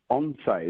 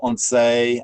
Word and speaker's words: ONCE: once it's on say isn't that how you pronounce it yeah on on there if you're a true cas speak castiana speaker or on say um if you're more from down south of spain but it's organization national